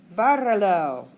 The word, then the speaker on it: bárralo: Bárralo. Muy bien. Excelente. And barra has two obvious syllables, no? Barra. So our accent goes on the A when we attach lo.